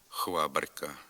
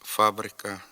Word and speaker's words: фабрика: про вимову звука ф дуже часто чуємо хвабрка хванера хвасон хведір хвізика хворма замість фабрика фанера фасон Федір фізика форма Чим же пояснюється наявність